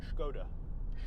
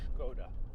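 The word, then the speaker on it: Škoda: wrong there haven't I you're supposed to say it I believe as if you're doing a bad show on Connery impression so it's skoda skoda like shaken not Stern anyway the skoda yeti is quite a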